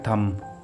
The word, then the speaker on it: thumb: के साथ देखते हैं यहां पर वर्ड है थम यानी अंगूठा यहां एम के बाद बी आ रहा है इसलिए यहां पर बी साइलेंट होगा बाज औकात बच्चे यहां इसको गलत पड़ जाते हैं थंब पड़ जाते हैं इसमें बी नहीं पढ़ेंगे एम के बाद बी